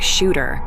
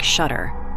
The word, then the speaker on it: Shuter: folks just call him shudder the name is a holdover of German immigrants technically it should be pronounced like shooter but in this province folks say it like shudder and he didn't know